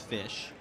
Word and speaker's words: FHS: So, FHS pronounced fish.